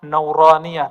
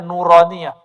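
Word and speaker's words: نورانية: Makanya ribat itu kita kasih nama nauraniah. Itu bacanya nuraniah.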